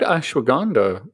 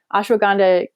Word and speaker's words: ashwagandha: it was stress by the way i found ashwagandha um helped very helpful yeah thank you i think is how you pronounce it yeah very very ashwagandha's super powerful